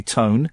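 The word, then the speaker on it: Toné: It's pronounced Tony Tony. Tone.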